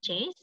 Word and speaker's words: Jez: Is it Jace? Am I pronouncing your name correctly?